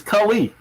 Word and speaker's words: Culley: First of all, you're not even pronouncing the new coach's name right because we don't know him. It's Culley, David Culley.